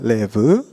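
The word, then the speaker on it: לב: 어,이 마음이라고 하는 단어는 원어로는 레브라고 읽습니다. 레브.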